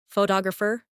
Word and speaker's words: photographer: Some words are pronounced with extra emphasis on one part. For example, photograph, photographer, and photographic. The stress moves and that changes the sound.